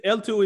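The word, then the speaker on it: eltoo: to the lightning network l2 is a kind of a pun on layer two right it's called e it's spelled e-l-t-o-o but it's a layer two okay um any more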